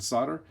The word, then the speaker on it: solder: cut, and that'll get soldered on right here. Now, before you leave a comment on how to pronounce the word solder, I did look it up, and you can say solder or solder.